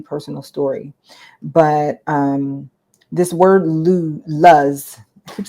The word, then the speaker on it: Luz: And when I started doing some research, I just Googled, like, what does L-U-Z mean? I thought it meant like lose. I thought that's how you pronounce it because I think, I don't know.